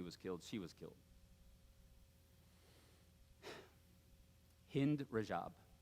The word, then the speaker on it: Hind Rajab: Hind Rajab. I think that's how you say her name. Hind Rajab.